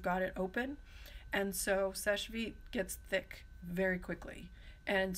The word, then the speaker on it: Seche Vite: solvents are you like Seche vite and that is how you pronounce it it is it looks like sachet vitae and I've heard it said that way but that's not it sesh feet means quick dry in